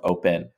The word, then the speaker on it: OP3N: Now, to get a little bit deeper than that, we're partnering with an amazing project called Open. OP3N is how you would spell it.